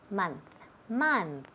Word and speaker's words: month: Ok, so, todas esas palabras tienen el mismo sonido. M-O, pero se escribe M-O, pero se oye como si fuera una M-A.